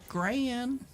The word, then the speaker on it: Cran: Spelled like crayon or like a first part of cranberry. Cran. like gran.